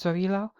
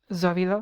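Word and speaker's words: Sowilō: roon here and and I'm pronouncing is zoilo because like in German I don't know how to speak German but I did take German classes in college um the letter s in German is pronounced like a z in English so there you go that's why I pronounce it um zovilo meaning sun is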